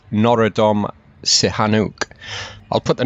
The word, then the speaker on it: Norodom Sihanouk: This stupa houses the remains of the 20th century Cambodian king, and pardon my pronunciation on this, but it's Norodom Sihanouk.